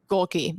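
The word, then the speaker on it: Gohlke: Jack Golke. Golke.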